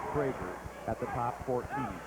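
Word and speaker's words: Kroeger: Todd Krager. K-R-O-E-G-E-R, pronounced Krager, at the top 14.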